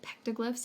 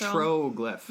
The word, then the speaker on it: petroglyph: So it's petroglyph. Yeah, it's petroglyph. T-R-O, not T-A.